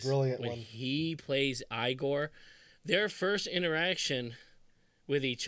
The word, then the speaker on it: Igor: But he must be Igor. No, it's pronounced Igor.